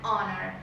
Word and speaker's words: honor: Pero si esa H es muda, vamos a decir, por ejemplo, an hour or an honor, ¿ok? Porque esa H no se pronuncia la siguiente vocal de la palabra.